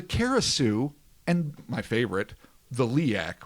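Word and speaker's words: Leyak: The Penangalan, the Karasu, and my favorite, the Liak, which is actually pronounced leek, which is, if anyone's ever seen Mystics in Bali, Chris, I know you and I have watched it.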